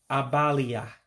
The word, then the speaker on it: abalị a: So it would be pronounced as Abalị Ah. Abalị Ah for tonight.